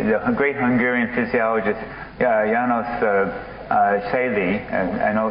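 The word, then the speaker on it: Selye: So János, I never say his name correctly, the great Hungarian physiologist János Szély, I know it's, how is it?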